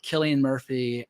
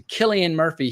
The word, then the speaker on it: Cillian Murphy: They pronounce it Cillian Murphy.